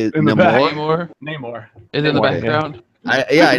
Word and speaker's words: Namor: Neymar is Neymar. How do you say it? Namor.